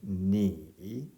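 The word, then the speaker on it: 你: 성조, 삼성 성조가 있으니까 이제 제대로 발음하면 니 이렇게 되겠죠.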